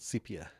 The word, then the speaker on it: sepia: The old sepia. So I believe you're pronouncing that wrong. Sepia? Sepia, I believe, is how it's pronounced.